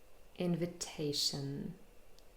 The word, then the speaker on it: invitation: So we have in, main stress, shun, 4 syllables. And the secondary stress is on the first syllable, invitation. So te is the longest and loudest, but in is also a little bit longer and louder compared to vi and shun.